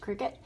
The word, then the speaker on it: Cricut: circuit, I don't know, I think it's pronounced cricket.